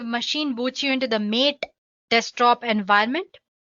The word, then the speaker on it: MATE: As you can see, the machine boots you into the Mate desktop environment. Let me pronounce it M-A-T-E. You can call it whatever you want, Mate or Mate desktop environment.